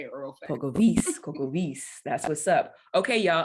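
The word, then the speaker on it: Polkowice: So Pokavice. W's in Poland are a V. Don't worry, girl, because I think I say it wrong too, but I know that the W is a V.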